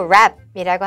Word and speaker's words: wrap: 여기 W는 발음 안 하고 wrap이라고 하면 되죠.